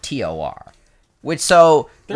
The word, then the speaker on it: Thor: Like if it's spelled Thor, it's supposed to be pronounced Tor, and if it's spelled Tor, it's supposed to be pronounced Thor.